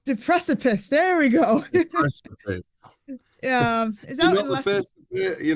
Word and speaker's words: Deprecipice: So your new album, I hope I'm going to pronounce this right now. Deprecipice. Deprecipice. There we go. Deprecipice.